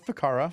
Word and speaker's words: Ficarra: I I could not get it it's a faka faka faka it sounds better when I say